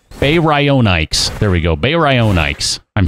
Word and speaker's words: Baryonyx: Baryonyx? Some sort of really weird pronunciation too. Baryonyx. It's a baryonyx. There we go. That's how it's pronounced.